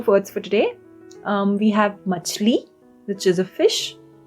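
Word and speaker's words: मछली: We have machli, which is a fish. Machli. The sound is ch.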